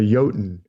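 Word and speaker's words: jötunn: goes fishing with a yotan you know what a yotan is like a giant a frost giant it's spelled with a J but they pronounce their J's like a Y and Scandinavia so Jo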